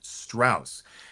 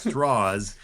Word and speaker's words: Strauss: Lewis Strauss off is pronouncing his name Strauss and they they even put it in the mov several times it's straws and uh that was something the southern way to pronounce it right throughout the Book